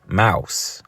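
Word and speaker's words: Maus: before the name of the book is mouse but you know it's not spelled like you know the average mouse they spelled it m-a-u-s right now it's a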